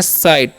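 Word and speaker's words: sight: जाता है ठीक है ई जीएसटी से हम लोग पढ़ते हैं साइट ठीक है यहां पर जीए जो है साइलेंट होता है और साइट मतलब क्या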